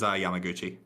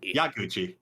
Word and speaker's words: Yaguchi: Serious answer is Yamaguchi. Yaguchi. Jeez. Yeah, I said his name wrong both times.